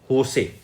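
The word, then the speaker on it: José: एक चीज और, जब ये JOSC लिखा होता है ना, इसको प्रोनाउंसिएशन कैसे करते हैं? होसे।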